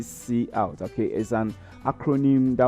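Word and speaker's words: cout: don't pronounce that couch we don't pronounce it couch we call a we say C out okay is an acronym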